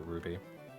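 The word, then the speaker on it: RWBY: all right what show it's called Ruby but it's it's spell yeah spelled like that our W by y but everybody just calls it Ruby cuz that's the uh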